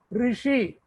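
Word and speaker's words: ऋषि: The pronunciation, please note down. R, R, Rishi, Rishi Munigal. சொல்லுவாங்க அந்த ரிஷிக்குள்ள ரு. தமிழ்ல வந்து ரிஷின்னு எழுதுவோம். Hindi and Sanskrit we write ru, ru, shi, rishi.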